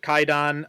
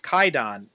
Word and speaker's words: Kwaidan: movie and you know I've called it kaidon U but it is spelled Quon on the on the DVDs so uh if you're looking for this movie do make sure you get the one with the W in it because that's the one